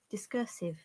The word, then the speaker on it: discursive: discursive discursive discussive so if you remember then in british if you do not pronounce r so it should be discursive rather than discursive discursive so this is the british ipa discursive discursive american discursive discussive okay so it's a